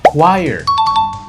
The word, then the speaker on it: choir: It's not cho, it's choir. Choir like require without the R.